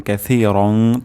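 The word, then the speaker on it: كَثِيرًا: হামদান কাসিরং সা কাসি সিন হবে না সা হবে সা উচ্চারণ হবে জিহ্বার আগা সামনের দাঁতের আগার সাথে লাগবে হামদানীর মোবারক হামদানীর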